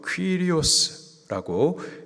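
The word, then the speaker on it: κύριος: 우리가 주님, 헬라식 발음으로 퀴리오스라고 예수님을 고백하는데, 이 주님이라는 이 고백은 당시에 로마 황제에게만 붙여졌던 칭호입니다.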